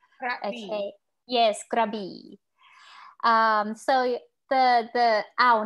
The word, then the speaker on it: Krabi: known is called grabee a lot of time tourists would read this uh krabby but it's actually grabbed okay yes krabi um so the the